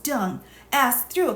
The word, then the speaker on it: Deng: Quote, Hunter, this is to confirm that the DCM Minister Deng, pronounced Dung, asked through a call that I received from Mr.